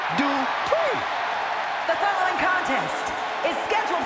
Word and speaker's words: Dupri: Comes The Talented Maxine Dupri uh Michael it's pronounced d PR the following contest is